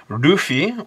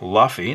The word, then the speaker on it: Luffy: Today we're going to be learning how to draw Rufi or Luffy depending on how you want to pronounce it.